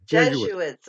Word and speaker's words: Jesuits: Freemasons you see I don't know if I pronounced Mara is it just students or judges Jesuits Jesuits okay thank you because I've never heard that